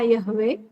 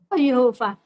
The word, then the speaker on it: Yahweh: Pada saat inilah manusia mulai memanggil nama Elohim, yaitu tertulis di sana YHWH atau Yod-Heh-Vav-Heh, atau dibaca Yahweh Ibrani kuno atau Yehova ejaan modern.